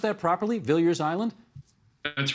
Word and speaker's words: Viliers Island: back in here and talk about something called Billiards Island have I pronounced that properly Billiards Island that's right okay I'm just going to uh